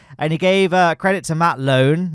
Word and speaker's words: Matt Lowne: My name is pronounced Matt Lowne.